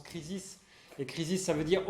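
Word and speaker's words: κρίσις: l'étymologie de ce mot en grec crise ça se prononce krisis les krisis ça veut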